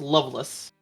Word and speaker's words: Lovelace: It's spelled Lovelace, but it's pronounced Loveless.